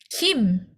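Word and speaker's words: 김: Kim. Oke, Kim. Oke, karena ini bacanya Kim. Betul, Kim. Ya, walaupun G-nya di depan bacanya Kim.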